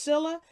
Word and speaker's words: Scylla: thus what was it Scylla I think I think it's pronounced Scylla of environmental determinism and the car bidis carbonates of blaming the victims perspective okay so that's dr.